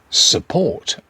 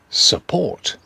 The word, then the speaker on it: support: And finally, a weak U. Support, support. Stress on the second syllable, support.